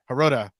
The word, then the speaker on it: Herota: uh we have Lance how do you say your last name is it herota I forgot that yeah haroda nice that's awesome Lance